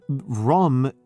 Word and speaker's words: Rum: And the Sultan Rum is just a Turkish pronunciation of Rome.